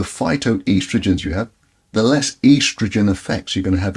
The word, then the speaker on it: estrogen: They say estrogen, but according to this doctor, it's estrogen.